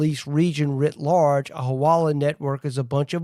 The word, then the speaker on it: hawala: in part, are used in what's called the hawala," if I'm pronouncing that right.